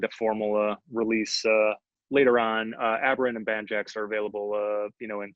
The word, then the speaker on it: Aberrant: Just so I pronounce it correctly again, tell everyone this one. Aberrant.